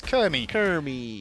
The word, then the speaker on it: Kyrmi: I've probably been saying his name wrong the whole time. I just realized the R is in a different place. Kyrmi.